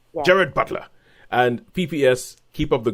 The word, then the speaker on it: Gerard Butler: Apparently, his name is Gerard Butler, not Gerald Butler. I think you pronounce it the Scottish way, which is Jared. You just say Jared. Yeah. Jared Butler.